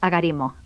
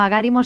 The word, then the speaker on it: agarimo: Agarimo es llana, no lleva tilde, es agarimo. No agárimo, sino agarimo.